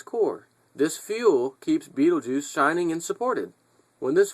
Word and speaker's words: Betelgeuse: Astrophysicists say that Betelgeuse, I really don't know how to pronounce that. Betelgeuse. Betelgeuse. Betelgeuse sounds good to me because it reminds me of that movie.